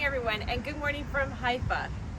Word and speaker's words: Haifa: All right, so good morning, everyone, and good morning from Haifa. I said it right. Yes, you did. Not Haifa, Haifa.